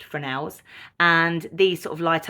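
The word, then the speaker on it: Fresnel: could also have frels they're spelled Fresno so if you think Fresno in your head um but they're pronounced frels and these sort of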